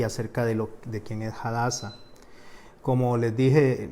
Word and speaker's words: Hadassah: de lo de quiénes hadassah como les dije la pronunciación correcta es jalas a casa o la palabra hadassah